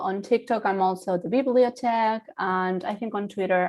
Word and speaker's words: Bibliothèque: I am the Bibliothèque. That's how it's pronounced. I've been told like Bibliothèque and lots of things.